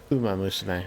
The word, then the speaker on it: Uma Musume: Chakrazier would basically be better at the pronunciation. Is it Uma Musume? Uma Musume, yeah.